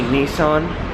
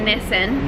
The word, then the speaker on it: Nissan: Americans say Nissan. Australians we say Nissan.